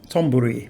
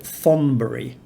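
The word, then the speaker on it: Thonburi: river to bangkok and it's um ton buri tomburi with a um an aspirated t but the transliteration system puts it th for aspirated c's and i've actually heard a lonely planet podcaster call it thonbury you know like lonely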